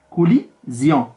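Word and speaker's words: collision: يعني هنايا عندنا كولوزيون، هنايا كوليزيون، يعني هنايا او وهنايا اي.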